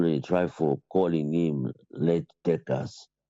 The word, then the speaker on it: Leijdekkers: A lot of people they try for calling him Leijdekkers. In Dutch side, in the Dutch, the J, they know they pronounce them. So now there's Y. That's what they pronounce it.